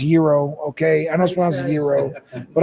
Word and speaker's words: gyro: and get a gyro instead I know it's pronounced Euro okay I know Euro but I say gyro because America exactly I think y'all just gave